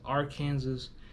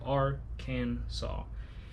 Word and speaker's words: Arkansas: still so we still call it arkansas even though there is an s at the end people get us conclusive with kansas and people call us r kansas but knows r can solve three syllables are can saul it's french technically so our our name